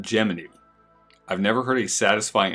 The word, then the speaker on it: Gemini: Ocean First Gemini 8 NASA and the astronauts officially pronounced it geminy I've never heard a